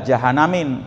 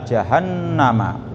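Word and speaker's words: جهنم: Pakai fathah ya jahannam karena ini salah satu apa? Bentuk kata benda yang tidak menerima tanwin. Jadi bukan ila jahanamin. Biasanya kalau ada ila, min, an, fi, kata benda berikutnya kasroh. Kalau ini nggak kasroh. Kenapa? Karena memang dia istilah goir munsorib, kata benda yang tidak pernah menerima tanwin, maka jadi di fathah ila jahannama gitu ya, ke neraka jahanam.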